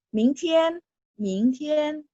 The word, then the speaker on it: 明天: 不用谢，不用谢。Terus 16, 再见, sampai ketemu, 再见, sampai ketemu, 再见。17, 明天，明天 besok, 明天 T bacanya TH, 明天ya, T bacanya TH.